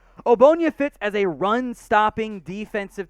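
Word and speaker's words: Ogbonnia: pick number 169 otito obonya it is not pronounced the way it looks the g it just ignore it doesn't exist for our purposes here obonya fits as a run-stopping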